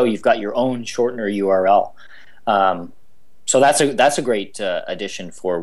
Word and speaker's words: YOURLS: One of the great things that we added is support for URLs, which is spelt YOURLS.